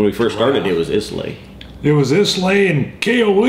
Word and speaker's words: Islay: Islay. Islay. Islay. I wanted to say lay. Yeah. It's not Islay. It's Islay. Islay. Like I love Lucy is how someone had said See, we're getting smarter, even though I got on it.